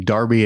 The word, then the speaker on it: Derby: a retired teacher in darby england which is spelled derby but it's pronounced darby and i don't understand